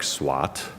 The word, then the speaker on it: SWOT: Um, and so while the main word sounds like SWAT, uh, it is pronounced like SWAT, uh, it's actually spelled with an O, S wo T, uh, an acronym which stands for strengths, weaknesses, opportunities, threats, all plural.